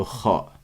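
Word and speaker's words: ر: inchallah ensuite cette lettre c'est le RA le RA donc répétez et vous vous voyez que c'est la première lettre où je la prononce avec un accent grave je dis pas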